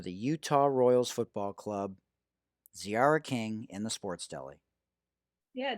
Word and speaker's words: Tziarra King: ciara king that's t-z-i-a-r-r-a-k-i-n-g the t is silent at zra king and on twitter at ziara now back to the interview with women's professional soccer player for the utah royals football club ziara king in the sports deli